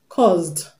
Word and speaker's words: caused: option C we have caused caused caused the s in cause is pronounced Z and not it's not cause you